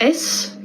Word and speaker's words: is: So notice that I'm not saying ish.